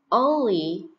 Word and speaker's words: only: thay vì xe máy Only Only Only âm này được phát âm là âm on ok không phải âm o nha nhờ bạn đọc only